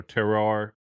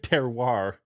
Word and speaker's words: terroir: discussion about you know terrar i'm just butchered that but uh terroir uh thank you um